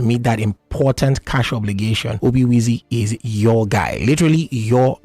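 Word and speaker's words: Obiwezy: comom they also on X at Obi wizy literally Obi wezy Obi wezy is spelled OB i w e z y yes Obi wezy follow them on all pages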